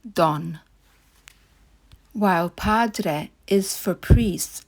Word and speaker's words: Don: Italy is Don or the Italian pronunciation Don while Padre is for